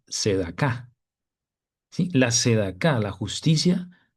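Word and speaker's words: צדקה: Entonces, continuando con la frase el reino y su justicia, buscad primeramente el reino y ahora analizaremos la palabra justicia, que en hebreo se pronuncia sedacá.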